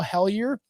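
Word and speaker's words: Hellyer: do have an episode written about about Paul helier that's how you pronounce his name he was the defense minister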